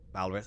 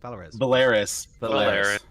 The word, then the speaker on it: Valeris: So that's Kim Cattrall played Lieutenant Valrez. How'd you say her name? Valrez? Valeris. I'm glad you guys knew.